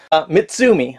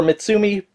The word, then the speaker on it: Mitsumi: m m i can't can never pronounce that one mitsumi believe it's pronounced so this is for mitsumi uh seat Drive connection